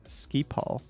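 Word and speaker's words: Schiphol: think that's gonna happen pronounced ski Paul for someone who doesn't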